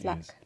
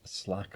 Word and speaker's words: Slake: of Tyne it's pronounced Slack Slack well Jarrow Slack it's written slake but never mind Jarrow slack which is